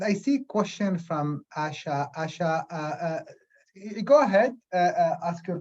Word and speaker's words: Asha: Am I pronouncing correctly, Asha?